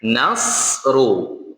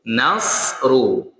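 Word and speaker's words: نصر: Nasru di situ huruf sh bukan huruf sa. Maka ketika membaca sa sh tapi nas. N nas. Nah, bukan nas. Kalau nas itu hurufnya sa. Kalau ini hurufnya sh ya.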